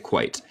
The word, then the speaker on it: quite: Ok, so la palabra quite se deletrea así y se pronuncia quite.